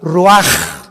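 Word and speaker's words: רוח: capítulo y exhaló Isaac el Roach así como suena se pronuncia la ch en hebreo como J ruaj se le só y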